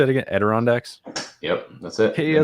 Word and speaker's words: Adirondacks: in the how do you say it again adirondacks yep that's it hey i said it right